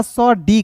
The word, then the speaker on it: said: SAID तो एस का सॉ, डी का ड। मैंने बोला था कि AI जब भी दिखेगा तो इसका उच्चारण ए के रूप में करेंगे, तो SAID सेड हो जाएगा दोस्तों।